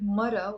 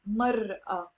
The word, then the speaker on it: مرة: So notice here how I wrote the word مرة with an alif. Like in standard Arabic we pronounce it مرأة, مرأة. But in the Lebanese dialect that's silent.